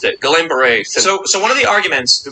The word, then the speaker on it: Guillain-Barré: increase in certain syndromes like how do you pronounce it again? Guillain-Barré. Just say it really quickly so no one knows. Yeah, it's great. You're mispronounced it. Guillain-Barré.